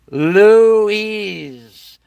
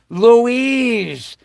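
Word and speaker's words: Luis: famous a masculine name Louis is a masculine name of Spanish origin pronounced Louise Louise Louise okay now I'm now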